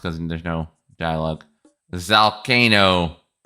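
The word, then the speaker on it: Zalcano: Zalkcano like volcano but with a z.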